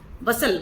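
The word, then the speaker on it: bustle: है in great बसल ये बस्टल नहीं है बेटा इसमें टी साइलेंट है इन अ ग्रेट बसल बसल मतलब होता है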